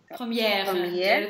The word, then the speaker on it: première: Две первые под ударением и как Première. Première.